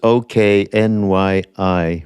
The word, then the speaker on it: Tsoknyi: I'm incorrectly probably pronouncing his name, Tsokni. You're leaving out the harsh K, I think. Yeah. I think you're right, though. I could be, but pronouncing Tibetan. Yeah, right. Where are we going to go? It's Tsoknyi Rinpoche.